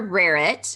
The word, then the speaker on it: Rarrett: I'm Rarrett, rhymes with carrot and parrot and ferret, but not spelled like any of those.